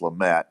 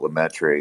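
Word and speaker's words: Lemaître: Yeah, I've been told it's pronounced Lamette, but some people call it Lemaitre and stuff like that.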